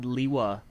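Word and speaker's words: Lewa: then cited greg saying i have always pronounced it leewa but i would probably consider the movie pronunciation official which by the way is also leewa i don't know i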